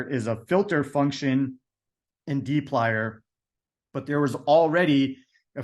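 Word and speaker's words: dplyr: the storms data set which is in the D plier package so this is often pronounced this package is pronounced as D plier and so before we can access any of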